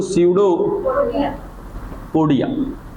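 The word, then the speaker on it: pseudopodia: सडोपोडिया। यहां पर P silent रहता है। पी को प्रोनंसिएट में नहीं लेते। पी को पढ़ते नहीं है हम लोग।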